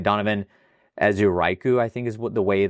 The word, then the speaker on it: Donovan Ezeiruaku: And then I got I can never pronounce his name right. Donovan Ezeiruaku, I think is the way that you pronounce his name.